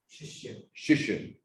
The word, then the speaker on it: Shishir: One of the musicians, young Shishir, is it Shishir or Shishir? What is it? How do you say in Bengal? Shishir.